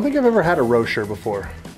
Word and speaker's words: Rocher: Oh, sorry, that's mixer pronounced like Rocher. Like Ferrero Rocher. Yeah, that's how you say it.